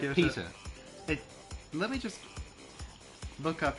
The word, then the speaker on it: Piotr: Piotr Kropotkin. Pieter? Like Piotr. Peter. Let me just look up how to spell it.